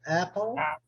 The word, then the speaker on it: apple: Muitos brasileiros falam Apple, né? Mas é Apple. Apple. Pie.